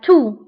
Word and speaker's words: toux: سؤال هو la toux. la toux. la toux. فبالنسبة لا تو تكتب بإكس ولكن لا ننطقها. إكس في آخر الكلمة ولكن لا تنطق. donc نقول la toux.